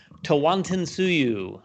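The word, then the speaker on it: Tawantinsuyu: number nine my number nine is and i'll pronounce it correctly because i did a video on it tawanton tsuyu from board and dice this is uh their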